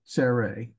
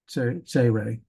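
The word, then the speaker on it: צֵירֵי: And then this next one is the two little dots below here, tsere. Tsere. And it's always the E as in they or obey.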